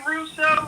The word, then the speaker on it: Russo: Like Rene Russo? Is that how you say it? Yes.